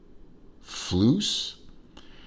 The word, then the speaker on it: Fluess: pronounce the name properly the spinnaker flues the only reason i say it's loose is because it's spelled f-l-e-u-s-s and it looks like the way you would spell seuss like dr seuss you know